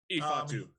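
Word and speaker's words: Ifeatu: And but I think I could be wrong, but I think Ifatu, is that how you pronounce it? Ifatu, yeah.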